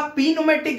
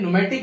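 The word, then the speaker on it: pneumatic: व्यक्ति पड़ेगा तो पड़ेगा पेनुमटिक है ना अब हम लोग उसे माना करेंगे नहीं नहीं ये मत पढ़ना इस साइलेंट है तो चलो अब जैसा भी है नोमेटिक इसको पढ़ेंगे 12 इलेक्ट्रिकल लाइनर थर्मल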